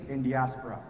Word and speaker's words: Indiaspora: people have asked me how do I pronounce this name right so we call it in diaspora some people call it